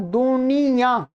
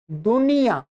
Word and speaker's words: दुनियाँ: क्या में जब हम या और आ उच्चारण कर रहे हैं तो नासिका से उच्चारण नहीं हो रहा। क्या। परंतु इसका उच्चारण कहां से हो रहा है?